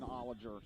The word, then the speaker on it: Ollinger: Yeah, I might have said his name wrong. It's Jonathan Ollinger.